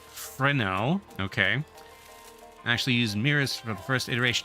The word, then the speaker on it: Fresnel: Fun fact, President himself pronounced Fresnel.